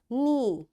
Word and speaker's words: knee: It will be silent like in words no, knife, knock, knot, knit, knob, knee, and knuckle, and knowledge. You see, in all these words, because K is there and right after K there is N, that's why this K is silent, right?